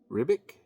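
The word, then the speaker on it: Ribić: Hickman and Assad um ribick I think that's pronounced it's r i b i c uh this is our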